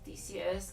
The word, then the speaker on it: Theseus: So, you want to do the ship of Theseus, copying myself until the very end of your natural life.